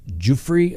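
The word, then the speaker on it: Giuffre: court with his accuser this virginia jeffrey pronounced jufree i guess for the sake of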